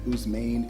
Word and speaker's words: Ousmane: Ousmane, Ousmane, Ousmane.